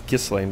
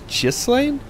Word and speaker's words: Ghislaine: in defeating G uh gislan I I wanted to pronounce it as Gan but it's jlan lord of the region